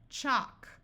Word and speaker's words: chalk: L still says L if you have l k or l m then the L will be silent but L plus another